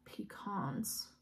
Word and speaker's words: pecans: coffee Louisiana pecans pecans I feel like pecans is the way to pronounce that tomato tomato though right